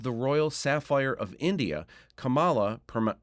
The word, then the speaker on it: Kamala: Dubbed the Royal Sapphire of India, Kamala, pronounced Kamala, is at the top of any young man's fantasy list.